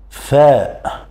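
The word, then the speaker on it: فاء: va vous répondre directement fa c'est la même prononciation de la lettre F en français fa exemple farasa farasa répéterz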